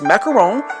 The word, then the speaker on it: macaron: making dark chocolate French macaron yes I did pronounce that correctly it's macaron not to be confused with macaroons those little